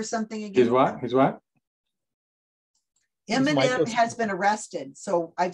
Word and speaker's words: Eminem: it's from what's up eminem is not in there and it isn't m and m like the candy it's e-h-e-m-i-n eminem spelled out phonetically wait a minute i